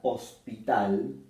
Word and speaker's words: hospital: La última sílaba de hospital es la más fuerte o la más notoria de la palabra.